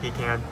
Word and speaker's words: pecan: pean it's peon flavor can you tell that I come from the south just by the way I pronounced pecan I not pan PE can I tried two SS